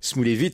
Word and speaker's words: Smoulevitch: Ouais, je suppose que vous n'avez jamais entendu parler de Serge Smoulevitch, ou plutôt Smoulevitch, si on le... prononcé à la polonaise.